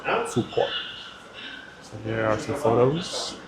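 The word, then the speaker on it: Phú Quốc: So it's pronounced Phu Quoc. Phu Quoc.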